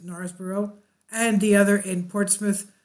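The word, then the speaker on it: Knaresborough: birthplace at Gnarls borough it spilled with a K but I pronounce it Norris borough and the other in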